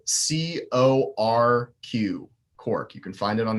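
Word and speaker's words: Corq: all kinds can also be found on the Cork app. It is spelled C-O-R-Q, Cork.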